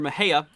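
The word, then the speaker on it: Mexia: warning here uh near mahea or this does include moja here i was informed that that's how you pronounce that just north here of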